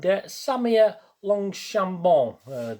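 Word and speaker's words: Samia Longchambon: benefactor job the cardinal as a headmaster and samia longshambo that's how you pronounce it of course she was i remember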